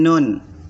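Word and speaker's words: نٓ: Cara bacanya nun, nun, nun. Ya, dibaca 6 harokat atau 6 tingkatan irama.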